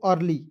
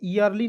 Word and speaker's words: early: EARLY, तो इसे क्या पढ़ेंगे दोस्तों, अर्ली। देखिए यहाँ पे ई को ईयरली नहीं पढ़िएगा, ई को ई नहीं पढ़ना है, यहाँ पे EA है, एक साथ जब दो भवेल एक